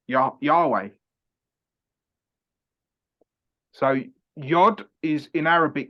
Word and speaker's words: Yahweh: word Yod He Vahe, so it's Yah, Ha, Wa, Ha, which is Yahweh.